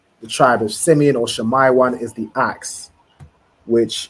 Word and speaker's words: Shammai: So it'd be Shammai one, right? Wherever you see the letter I, you want to pronounce it as I, right? It's not Shami one or anything else. It'd be Shammai one, right?